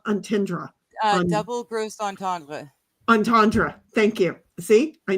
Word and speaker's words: entendre: Double gross entendre.